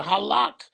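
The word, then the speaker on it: הָלַךְ: Halak is how it's pronounced.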